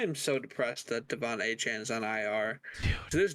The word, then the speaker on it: Achane: you mispronounced his name. It's Achan. Achane.